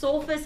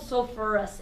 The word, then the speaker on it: sulfurous: have the right idea technically this one adds an extra syllable I guess I don't know if it's stupid flow better it's called sulfurous acid so they don't just